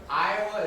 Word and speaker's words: Iowa: even know Iowa right so no not Ohio Iowa is spelled i-o-w-a in Indonesian you'd say eelwa there's Iowa Ohio and